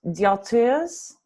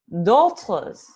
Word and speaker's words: d'autres: And d'autres. D'autres. No S. You don't pronounce the S.